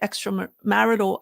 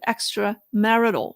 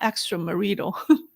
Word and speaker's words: extramarital: though his wife denied extra marital affair. Um, thank you for people who correct my pronunciation on the word extrammarital, not extramarido. Now I'm very cautious. Extramarital affair.